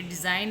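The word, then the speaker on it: design: ये डिज़ाइन है, इसमें जी साइलेंट है।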